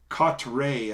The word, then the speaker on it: Cotre: on these uh amazon and they're caught ray i think is how you pronounce it but anyway it's c-o-t-r-e uh they have plenty